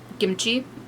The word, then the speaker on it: kimchi: i'll say that like kimchi is probably closer to how you would pronounce it in korean kimchi it's a little bit harder of a k sound than kimchi in like the american way of saying it but when you look